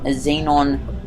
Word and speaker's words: xenon: this and the xenos xenon gas tank i'm pretty sure that's how it's um how it's pronounced like zen in halfway um but it